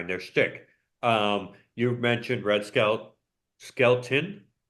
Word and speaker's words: Skelton: You mentioned Skelton, right? Red Skelton, is that how you say it? Yeah, not skeleton, but skeleton. Skelton.